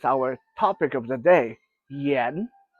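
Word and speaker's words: 盐: And number four is our topic of the day, yen. It's like saying Ian, the name Ian, you just say it quickly, yen.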